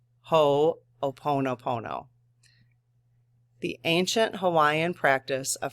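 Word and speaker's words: Hoʻoponopono: forgiven is called aono hooponopono and she has the pronunciation right there so ho ho o in all caps which is not really all caps but ho oono Pono the ancient Hawaiian practice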